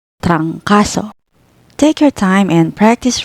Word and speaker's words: trangkaso: First syllable, trang, consonant cluster TR plus vowel A plus consonant NG, and the second and third syllables, ka and so. Read it as trancaso, trancaso.